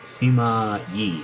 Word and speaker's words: Sima Yi: Genius, Genius Sima Yi. Am I pronouncing that correctly?